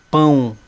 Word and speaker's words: pão: viram olha aqui ó pau e se eu colocar o tio pão viram a diferença agora quando uma palavra